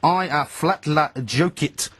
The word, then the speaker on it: Eyjafjallajökull: I think it's I flatla jokit uh is the pronunciation I believe uh correct.